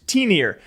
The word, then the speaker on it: T1NR: And thank you guys for teaching me how to pronounce T1NR, which is T-Near.